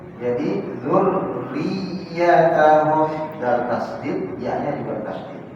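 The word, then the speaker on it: ذُرِّيَّتَهُمْ: Tasydid juga sama. Bayang orang baca gimana? Ya, dzurriyyatahum hilang satu tasydid. Harusnya dzurriyyatahum ya. Jadi dzurriyyatahum dal tasydid, ya-nya juga tasydid.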